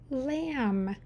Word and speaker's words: lamb: There's a silent b. Underline the silent b twice because it's not saying a sound. Read the word now. Lamb.